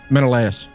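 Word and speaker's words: Menelaus: Menaus. Menaaus.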